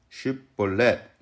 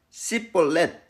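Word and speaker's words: שיבולת: 당신이 거기서 멈춰 봐 당신 따라 해봐 쉽볼렛 따라 해봐 쉽볼렛 발음 잘하네 통과 당신도 쉐보레 따라해 봐 십볼렛 쉽볼렛 해보라고 끌려가서 죽는 거예요 이게 무슨 옛날 유머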